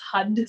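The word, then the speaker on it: Har: used a lot is hud so it's print like it's written out as h a r but it's pronounced hud so you want to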